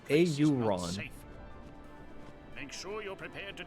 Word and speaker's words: Auron: one guy in anime always explaining everything is pronounced Aaron no no it's pronounced auron make sure you're prepared to defend yourselves it's not Aaron it's auron Oren yeah you and I get it wrong